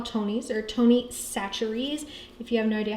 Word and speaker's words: Chachere's: This is what we call Tony's, or Tony Chachere's. If you have no idea how to pronounce that, that's how you say it.